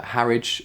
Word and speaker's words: Harwich: small town called uh harridge it's pronounced i believe she hadn't really done